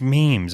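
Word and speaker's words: Meem's: pronounce the name of the business? Is it It's Meem? memes. It's memes.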